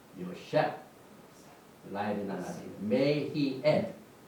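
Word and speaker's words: יוסף: 이 밥이 항상 이렇게 장하고 붙을 때는 이게 뭡니까? 오 발음이 들어서 요 그 다음에 페입니다. 셰프 요 셰프 라헬이 나나지 May he add 하나님께서 그를 더하시리라 그 뜻이.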